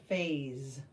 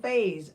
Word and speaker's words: phase: go with face faas this one has a little z sound that e and s there makes phas phas that was that the